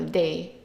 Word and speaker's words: des: Notice that I underlined the E and the S, meaning that they are not pronounced. So des, téléphone, des, table, des, hôtel, des, olives.